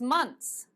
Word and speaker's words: months: help you with pronunciation one of the most difficult pronunciation words for students is months months if it's difficult for you to say months because your tongue goes behind your te say it like this months months don't write it like that I will be not a happy Teacher don't write this but for pronunciation just say months no one can hear the difference it's actually months but